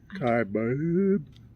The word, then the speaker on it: Kaibab: We looked it up on Google, and it's B-A-B is supposed to be pronounced B-A-U-B. Right? Bub. Kaibab. B-U-H-B. B-U-H-B. Bub. Bub.